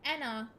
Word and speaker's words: ENA: begin with is because although the the um proper pronunciation is um Anna um the way it was first spoken by Moone in auction day was um Ena which may have been